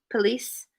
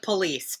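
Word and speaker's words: pelisse: wrong police p-e-l-i-s-s-e oh police that's no i think that i think i just sounds like police but yeah i feel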